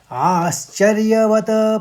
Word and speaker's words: आश्चर्य: पहले शब्द में देखिए, आश्चर्यवत पश्यति, 3 आघात हैं, तो आश्चर्य शौ का आघात लेते हुए आश्चर्य कहेंगे, फिर वत पश्यति पश्यति, आश्चर्यवत पश्यति पश्यति, आश्चर्यवत पश्यति।